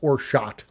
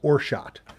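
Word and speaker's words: orgeat: minute made premium lemonade Orit which I think it's pronounced orot which uh you see that or or Jeet but I believe it's pronounced orot and then um habiscus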